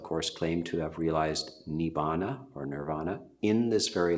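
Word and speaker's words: Nibbāna: And a synonym for that would be nirvana or nibbana. I'm from the Theravada tradition. The early suttas and the word, which is commonly pronounced nirvana in Sanskrit, is pronounced nibbana.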